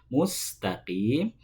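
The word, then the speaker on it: مستقيم: Ihdinas siratal mustaqim. Ya. Ketika membunyikan huruf sin dalam lafadz al-mustaqim. Nah, sering kita jumpai secara tidak sadar membunyikan huruf sin dengan huruf shad.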